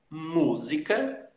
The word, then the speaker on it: música: Então, você vê aí ética, ética, música, música e vocálico, vocálico, vocálico.